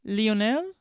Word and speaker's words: Lionel: How do you say Lionol in French? Leonel. Leonel. Yeah.